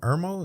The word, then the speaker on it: Irmo: Yeah, and then the girl, she was like, "I'm from Irmo." Is that how you say it? Mm-hmm.